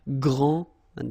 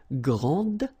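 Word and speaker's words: grande: you don't the day here and you don't pronounce the final s okay so gr and then same thing here gr and regarding the feminine form you will pronounce it Grand okay don't insist on the final but then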